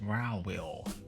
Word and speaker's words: Ruel: Or it's pronounced Rowell.